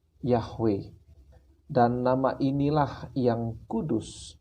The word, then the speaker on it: Yahweh: nama personal Allah kita adalah yhwh atau dibaca yahwe dan nama inilah yang